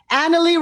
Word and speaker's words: Annalee: to pronounce my name annalee rhymes with family thank you that's my